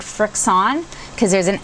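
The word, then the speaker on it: FriXion: than the friction pins friction I've always said Fricks on because there's an X in there and there's an IO and in there and a friend pointed out that it's pronounced friction and that still just doesn't seem right to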